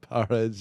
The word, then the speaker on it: porridge: Porridge. Yeah. Porridge. That's how you say it. Like almost like power.